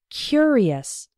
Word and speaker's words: curious: when we pronounce it the adjective form is curious the first syllable is strong he was a curious boy and in the